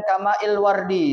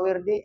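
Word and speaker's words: ماء الورد: Bi khilafi ma la yuzkaru illa muqayyidan kamail wardi itu bacanya. Jangan dibaca wirdi, apa wirid jadinya ya kalau.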